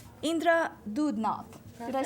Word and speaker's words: Doodnauth: Indra Doodnauth.